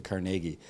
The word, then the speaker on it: Carnegie: It says the Carnegie, I always thought it was Carnegie, but then the way they pronounce it on NPR is like the Carnegie.